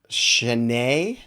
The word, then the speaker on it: Chaney: Chaney, Chanee, Blaze Chaney Alexander, Shanae.